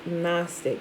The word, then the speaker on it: Gnostic: It really stands for the Greek word Gnostic, which is, remember, the G is silent, G-N-O-S-T-I-C.